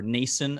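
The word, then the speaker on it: Noesen: well from the sharks uh or nason apparently it is even though it's absolutely not how it's spelt i don't know sometimes it's very confusing but m-o-e-s-e-n apparently makes nason um he's he he's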